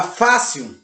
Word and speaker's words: fácil: A palavra fácil, ela é acentuada no ar. Fácil. Na separação de sílaba, você percebe que ela é a penúltima. Já que ela é a penúltima, ela é uma paroxítona, porque a sua acentuação gráfica, a sua tonicidade, a sua tonalidade, a sua sílaba tônica, ok? A sua sílaba tônica está na penúltima sílaba.